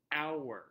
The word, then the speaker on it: hour: and hour so hour so you do not pronounce the h it is just pronounced hour so say that with